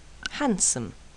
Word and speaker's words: handsome: afraid do don't and sometimes the D is silent handsome grandmother handkerchief grandfather handcuff Wednesday and here